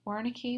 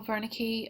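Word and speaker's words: Wernicke: it's should be pronounced Veri with a W but it should be pronounced with a V Vern's area Carl Veri um was a German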